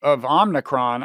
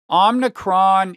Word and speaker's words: Omicron: It's going to be inflationary because I think even in the best case scenario, Omicron is going Omicron, not Omicron.